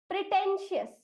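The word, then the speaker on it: pretentious: Pray, TEN टेन, और TIOUS का उच्चारण हम करेंगे शियस। तो इसलिए इस शब्द का उच्चारण हम करेंगे प्रिटेंशियस, प्रिटेंशियस, राइट।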